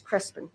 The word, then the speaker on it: Crespin: pronouncing it wrong it's Crispin it depends where you're at Northern New Mexico southern New Mexico some people roll the r well I will pronounce